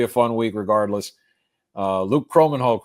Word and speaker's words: Kromenhoek: Luke Kromenhoek, right?